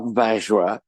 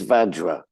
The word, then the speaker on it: Vajra: It's not Vajra. It's Vajra. Like a badger.